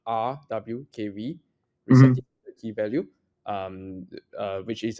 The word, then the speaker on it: RWKV: people in America, I actually prefer to say RWKV, receptive key value, which is a play on the famous transformer QKV. Because every time I say Roku, people keep thinking, "Are you Roku TV?" Yeah. Okay, so RWKV is it's an alternative architecture.